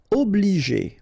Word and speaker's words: obliger: Obliger. Okay, remember when you get G and after that the vowel E, then you pronounce it J.